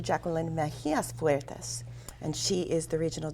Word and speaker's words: Jackeline Mejias Fuertes: I've still been pronouncing it wrong, but it's Dr. Jackeline Mejias Fuertes.